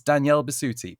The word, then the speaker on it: Danielle Bisutti: best as Freya from God of War it's Danielle bisti please tell me I pronounced that right you did darling absolutely and